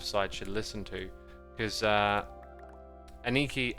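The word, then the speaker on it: Anneke: Because Aniki, I think her name's pronounced Aniki. It's sort of spelt that way.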